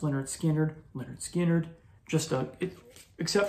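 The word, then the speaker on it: Lynyrd Skynyrd: favorite southern rock album pronounced Leonard skinnard Leonard skinnard just a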